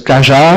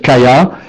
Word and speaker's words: Kaja: Ok, donc là on prononce Kaja, bon, il se trouve qu'on a envie de dire Kaya, et donc on va pouvoir enrichir le vocabulaire de Polly en lui spécifiant comment prononcer précisément ces mots, donc voilà, avec les différentes orthographes, on lui explique qu'en fait K-A-J-A, on a envie de le prononcer Kaya, et ça donne ça.